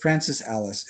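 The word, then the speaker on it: Francis Alÿs: And his conceptual work, Francis Alice is his name, and his last name is spelled Alys.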